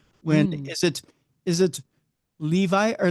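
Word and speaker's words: Lévi: up with the symbol Levy Levy Levy it would be the emphasis if if you're actually wanting the French way the exante is on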